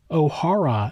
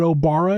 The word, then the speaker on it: Obara: It's noted that the Japanese character he used for his last name could be pronounced Obara, Ohara, and also Orihara, but Obara is the most common.